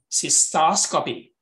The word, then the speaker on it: cystoscopy: You need to stress the syllable before that. Glucometer, cystoscopy. Like neonatologist, you see?